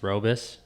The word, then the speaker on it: Roubos: proper way to say your last name it's robus robus yeah okay i think it's dutch but